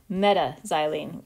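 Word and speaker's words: m-xylene: meta so this molecule we would write its name out m xylene but we would pronounce it meta xylene call this meta and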